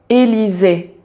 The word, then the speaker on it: Élysées: le son et donc à chaque fois que tu as un e donc un e avec un accent aigu on prononce toujours Élisée mais si tu as